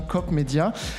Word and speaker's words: Coop-médias: lancement de Cop medéia alors faut bien prononcer hein on dit bien cop medéia alors COP qu'est-ce que